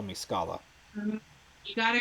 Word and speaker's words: Scala: It is not Scala. It is Scala. That, Scala. yes, that's right.